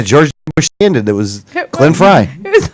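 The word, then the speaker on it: Glenn Frey: like George W bush did I even get the name right I might have got the name wrong you didn't I don't think you got the name right from the eagle Glen Fry Glen Fry that's what it is Glen Fry Gren Glen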